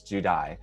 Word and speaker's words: Judi: I have here Judi, not Judy. It's spelled like Judy with an I, but it's Judi.